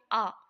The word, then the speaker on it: a: कैसे इसका इस्तेमाल किया वहां पर हमने देखा था कि ए लिखा था लेकिन उच्चारण के रूप में इसको पढ़ते हैं आ देयर इज अ बुक